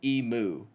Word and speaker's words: emu: like how we did emu so it's not emu it's emu uh Americans did God